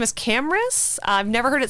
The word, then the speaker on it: Camrus: It's Camrus, which is very cool. Camrus Johnson.